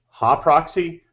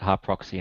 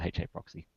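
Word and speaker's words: HAProxy: You pronounced it Ha proxy. I've always called it HA proxy. Yeah, What's up with so do that? I was doing that because it was a hangout a while back where I think Jake was pronouncing it hard proxy and we were giving him shit.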